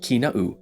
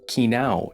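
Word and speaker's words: Kīnaʻu: sounds, as in kivala'o, kina'u, and ka'eo. Without the okinas, you would pronounce these as kivalao, kinao, and kaio, which have completely different meanings.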